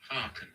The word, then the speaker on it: hearken: Haken. Haken. Haken. Es heißt horchen von hear und trotzdem spricht man es haken.